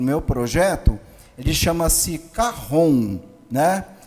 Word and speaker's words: cajón: meu projeto de chama-se carron né O que que é o carro on Na verdade ele se escreve chj o n cajón mas é um instrumento de